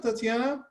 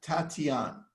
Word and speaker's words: Tatiana: santa monica what's up tatiana oh you know what i may have pronounced your name wrong it's tatiana so i am sorry